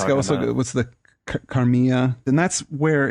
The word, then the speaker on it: Carmilla: I mean, it's not obviously sexual or Carmilla. That's what it's called. Carmilla or Carmilla. I don't know if it's pronounced. Carmilla. Okay. Yeah. If it's Italian, it's Spanish. It's Carmilla. If it's Italian, it's Carmilla.